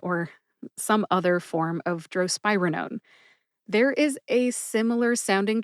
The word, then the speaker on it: drospirenone: Drospirenone has 4 syllables. Droe, like a drone. Spy, as in James Bond is a fictional spy for the British Secret Service. And Roger Moore, by the way, is my favorite James Bond. Like rug, and known like birth control pills are known to prevent pregnancy. Put all 4 syllables together and you get drospirenone. Drospirenone. Emphasize SPYE. See if you can hear the emphasis when I say it again.